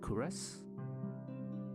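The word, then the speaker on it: Kuras: first who are you you may call me curus that you pronounce it kures sure and where exactly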